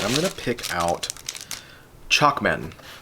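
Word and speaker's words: Chocman: going to pick out chalkman i'm sure that's pronounced choc man so chokman by costa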